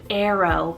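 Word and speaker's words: Eero: right now trending is the name arrow but spell e e r o arrow i have been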